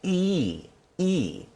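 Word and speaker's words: И: it's flipped horizontally and that's pronounced e e there's very i but if you can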